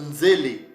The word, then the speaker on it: nzele: Ces mots-là se prononcent nzele ou se prononcer nzele.